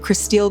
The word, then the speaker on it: Kristil: 43-year-old Christile Krug was pronounced dead at the hospital.